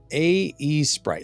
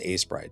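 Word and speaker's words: Aseprite: Drake says, A-E Sprite. Yeah, it's pronounced A-Sprite, but yeah, A-E Sprite.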